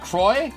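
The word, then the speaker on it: Crois: dieter krause ernest is it kroy it's probably pronounced croy right the s is silent oh yes i went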